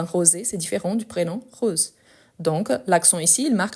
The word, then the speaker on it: Rose: Rose, c'est un E muet, tandis que rosé, c'est la règle, les mots qui finissent avec les E accentués pour marquer que les E doivent être prononcés.